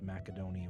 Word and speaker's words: Macedonia: I'm one of those people who've long been a heretic on the matter and pronounce Macedonia with the hard C sound instead of the more common in English soft C sound.